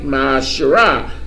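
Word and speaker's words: מעשר: You can find this in Numbers 18:21 and Malachi 3:8 and 10, means tenth in the Hebrew and is pronounced ma'asherah, 10% of every penny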